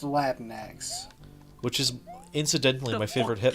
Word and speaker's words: Latinx: conversation about this earlier it's pronounced latinx which is incidentally my